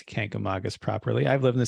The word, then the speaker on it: Kancamagus: And here's how they say you should pronounce Kancamagus. Kancamagus, just like I said it the first time.